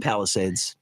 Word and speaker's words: Palisades: How do you pronounce it, Pauline? Palisades.